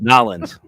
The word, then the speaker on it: New Orleans: New Orleans. That's how you say it. Together. Nolans.